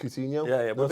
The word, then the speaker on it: Coutinho: Did I say pronounce Coutinho right? Coutinho?